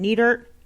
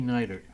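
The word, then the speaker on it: Neidert: on your radar Nick how do you say his name neater Miami Marlins Schneider Nikki nighter Nikki nighter thinking goodness that he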